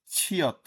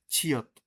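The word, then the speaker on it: 치읓: এরপরে আসতেছে একটা নক্তা, তারপরে জিয়ত, এটা হচ্ছে ছিয়ত। ছিয়ত এর উচ্চারণ আমাদের বইয়ের মধ্যে আছে ছ, মাঝে বা শেষে বসলে ছ, নিচে বসলে ত। তবে এর উচ্চারণটা হচ্ছে অনেকটা ছয়ের মতো, লাইক আচ্ছা।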